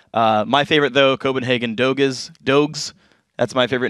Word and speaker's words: Doge: like doggies i'm like Doge cuz D O G E is already a word whatever i'm I'm putting my foot down it's pronounced Dog of course guys if